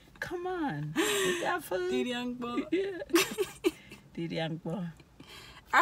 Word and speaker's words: di dia mkpo: Didiangpo. Didiangpo. All right, well, there it is, guys. It's I'm hungry, and come and eat. I'm hungry again is abiondong. Abiondong. And come and eat is didiangpo.